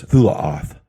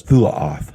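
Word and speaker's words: תולעת: It says Tolaat, more correctly pronounced as Thulaoth. The name of the star was Thulaoth, and a third of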